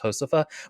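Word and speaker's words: Josefa: The main character, by the way, is called Josepha, but it's Josepha. I'm assuming it's a Spanish. F-A. I'm assuming it's a Spanish word because J makes an H sound, so it's not Josepha, it's Josepha.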